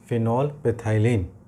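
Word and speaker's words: phenolphthalein: देखिए फिनॉल हो गया, पेथाइलिन बोलिए, ठीक है ना, कोई दिक्कत, ये वाला एच साइलेंट रहेगा।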